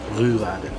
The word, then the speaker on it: Rouladen: It's so funny, whenever I say Rouladen, people don't know what I'm talking about because you have to pronounce it. Rouladen.